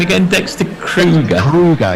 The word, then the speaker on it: Kruger: Kruger, yeah, Kruger, like the national park in South Africa.